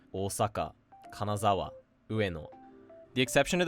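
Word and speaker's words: 大阪: The first being flat with the heibon pattern such as Tokyo, Osaka, Ueno.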